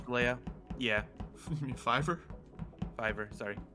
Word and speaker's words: Fiverr: Fiverr, sorry. I hear it called different ways, so I don't know which one's the correct pronunciation. It's Fiverr, because the whole concept is anything can be done for $5.